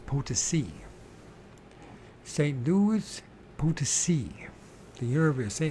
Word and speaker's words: Potosí: we just say the fucking San Luis Potosí, Potosí, because you have this accent on the end of. So it's Potosi.